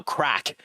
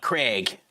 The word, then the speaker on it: Craic: Like my name, my original name, like even even the name I'm going with now, crack. Uh tons of people call it Craig and Craig, you know?